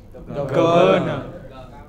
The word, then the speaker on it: governor: So, it is not governor. The correct pronunciation is governor, not governor.